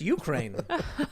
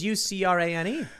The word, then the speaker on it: Ukraine: It's like, it's pronounced Ukraine. Huh. I thought it was Ucrane.